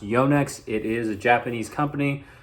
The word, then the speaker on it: Yonex: to use from the company yonix yes it's pronounced Yonex it is a Japanese company it is not yanx like you may hear the official pronunciation from